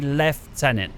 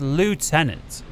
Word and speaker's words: lieutenant: General fluffy now being from the UK we say left tenant now I'm aware the Americans say it's loot tenants and having a closer